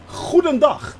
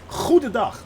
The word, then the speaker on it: Goedendag: Goedendag. That's how you pronounce that, actually. Goedendag. Yes, and the hard G is, I know, poison to most people's ears.